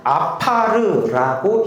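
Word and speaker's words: עָפָר: 이거는 아파르라고 히브리어로 읽습니다.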